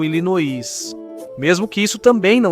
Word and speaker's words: Illinois: grafia francesa do nome, mas mudou a pronúncia. Em vez de elinoar, eles ficaram com ilinoí, mesmo que isso também